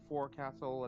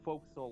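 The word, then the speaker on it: Forecastle: into position all right I do get mildly urge when people pronounce four Castle as well pronounce it that way instead of Folk Soul like it's supposed to be ah the ROV yep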